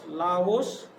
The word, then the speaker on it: Laos: तो लाओस, उच्चारण आप ध्यान दीजिएगा, LAOS, लाओस बी पे लिखा हुआ है।